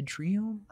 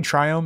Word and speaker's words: Triome: Fetch for maybe a Triome? Triome? Probably Triome. I say Triome. I think it's probably Triome because, like, I know, like, Biome is the pronunciation of that. So I think it's try.